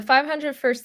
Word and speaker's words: 501st: that what it's called am I saying it right the 501st yeah the 500 first Legion is a nonprofit